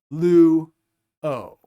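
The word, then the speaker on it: λύω: So lu is 1 syllable because it has 1 vowel, and o is its own syllable standing alone with just the vowel. Lu, o.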